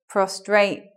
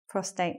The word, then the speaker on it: prostate: that's why people make mistakes sometimes they say prostrate problems not prostate prostate okay so commonly mispronounced words we've got more in a sec